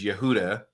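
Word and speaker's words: יהודה: You have Judah, likely named after Yehudi, which is a Kemetic deity, because the actual way to pronounce Judah is Yehuda.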